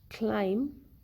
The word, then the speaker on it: climb: The letter B is usually not pronounced when it is in the end of the word and letter M precedes it, like comb, bomb, thumb, climb, lamb. In all these words, letter B is not pronounced.